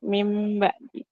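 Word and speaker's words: مِن بَعْدِ: dua tiga harakat contohnya mim ba'di itu kan tulisannya Min ba'di tapi kita bacanya mim ba'di kemudian dan ada tulisan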